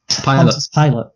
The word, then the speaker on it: Pilate: finally blackmailed a weak-kneed Pilate. That's. I was expecting his name to be like Pilate, like Pilot, but it looks like. It's very annoyingly spelled like Pilates.